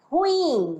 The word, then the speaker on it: ruim: só a situação tá na última sílaba é ruim né aqui a concentração a